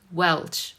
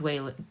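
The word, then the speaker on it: Welsh: them all the time welch welch not whale galish it's welch i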